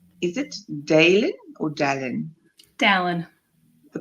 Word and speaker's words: Dallin: Dallin. The pronunciation, Dallin, who lived with multiple Yes.